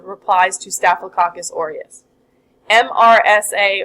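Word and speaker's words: MRSA: to stafl cacus orius M RSA or sometimes pronounced Mera stands from micin resistant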